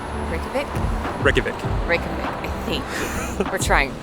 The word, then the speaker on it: Reykjavik: go highly highly highly recommend welcome to Reykjavik Iceland did I say that right perfect Reykjavik Reykjavik I think we're trying we always try